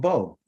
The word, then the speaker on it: bo: talking about is called Bo you know like a bow tie you know or like a bow that you you know you use to do a bow and arrow okay it's a bow that's how you say it okay the word itself